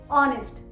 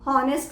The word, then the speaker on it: honest: इसी तरह से ऑनेस्ट, HONEST, ऑनेस्ट, first sound जो हमको सुनाई दे रहा है वो है ओ का, ऑनेस्ट, हॉनेस्ट नहीं होता है, ऑनेस्ट।